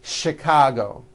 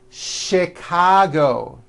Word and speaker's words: Chicago: even more more difficult there are a couple of words that are spelled with ch and are also pronounced with the sh sound words like chef and the City of Chicago okay having said that